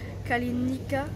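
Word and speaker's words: Καληνύχτα: dit kalalispera bonne nuit en grec ça se prononce kalalenicaa le café en grec se dit au café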